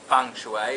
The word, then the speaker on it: feng shui: you'll notice I saying I am saying funu even though it's spelled f n g sh H UI so that sort of